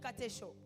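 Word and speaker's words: κατέχω: grec qui veut dire Katcho Katcho qui s'écrit comme K a T e C H o retenir veut tout simplement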